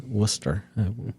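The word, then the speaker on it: Wooster: and uh it's spelled like roster but not pronounced like rooster it's Worcester there's a College of Worcester there it's near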